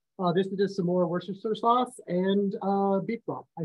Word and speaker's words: Worcestershire: If you like really say it the way you're supposed to, like Worcestershire.